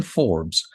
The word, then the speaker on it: Forbes: Forbes, is that the right way to say it?